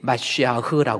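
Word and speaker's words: מָשִׁיחַ: 히브리어의 메시아라고 하는 그 단어, 모음이 들어가서 마시아흐라고 그랬죠.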